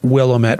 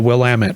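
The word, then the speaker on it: Willamette: to my attention that that is not the Willet Valley it's actually pronounced the willamet valley I did some digging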